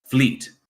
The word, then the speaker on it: Vliet: Fleet. So that V is like an F? Yes, a soft F.